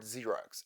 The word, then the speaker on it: Xerox: in French or take the letter X in the word Xerox is pronounced as Z Xerox not this letter was borrowed from Greek hence the letter sometimes sounds like Z and sometimes like there are indeed many such